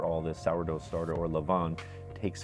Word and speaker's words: levain: It's spelled L-E-V-A-I-N, so levain, if you want to sound it out exactly how it's spelled.